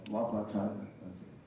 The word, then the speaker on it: Wapakoneta: Wapakoneta. Did I say it right? No, Wapakoneta.